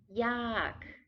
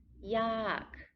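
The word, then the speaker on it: ยาก: cheap to be difficult yak falling tone yak to be difficult or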